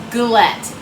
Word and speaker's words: galette: video out by saying this is called a glette I looked it up I looked how to pronounce it so this is the proper way for an Appalachian American to say it glette and enjoy the video good evening friends how